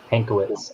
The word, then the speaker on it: Pankiewicz: joining us is and can you pronounce uh your last name for me ankowitz pankowitz and uh matt um so uh has been fishing since 1954.